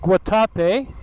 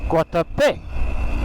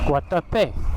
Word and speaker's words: Guatapé: So I always thought it was pronounced Guatapé, which would be the emphasis on the second A. Okay. Whoop. But the acento is actually on the E at the end, so instead of Guatapé, it's Guatapé. Guatapé.